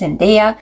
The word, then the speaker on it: Zendaya: But maybe if you're American, you feel more comfortable pronouncing it as Zenaia.